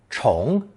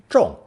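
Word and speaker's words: 重: This split sound character is pronounced either second tone chong, meaning to pile one upon another, to repeat, which in turn gives fourth tone zhong, its meaning of heavy, weighty, or important.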